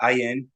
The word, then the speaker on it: Ayuen: Ayuen.